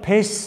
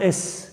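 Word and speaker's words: eš: Yani ya pes diyecektiniz veya se, bazen es diyecektiniz.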